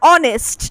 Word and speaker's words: honest: তাহলে আমি খুব সারপ্রাইজড হয়ে গেছিলাম to hear that an honest man, আর honest, ঠিক আছে, আমরা কিন্তু honest বলি না, এইচটা কিন্তু সাইলেন্ট, তাই জন্য এখানে আমরা an বসালাম instead of a.